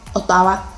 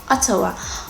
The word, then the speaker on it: Ottawa: So Ottawa is how a Yoruba person would say it, but I think the correct pronunciation is Ottawa.